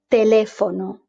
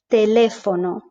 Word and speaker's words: teléfono: In English is t, t, t. We're kind of making quite hard. In Spanish it's a bit softer. Teléfono. It just flows nicely. There's no aspiration. Teléfono.